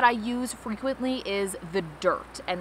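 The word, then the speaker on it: Dyrt: use frequently is the dirt and that's spelled with a Y d-y-r-t it's very similar to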